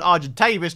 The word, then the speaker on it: Argentavis: And not only that, obviously my Argentavis, which apparently is called an Argentavis, not Tavis, it's a Tavis, that's how you pronounce it apparently.